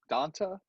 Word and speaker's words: D'Onta: I almost always mess up his name, but then it's spelled Dante. Donta. I think it's pronounced D'Onta, though.